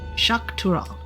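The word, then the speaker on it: Xak Tural: for the landsgard so I think that X's are pronounced with an kind of an sh sound in this dialect tune to the ather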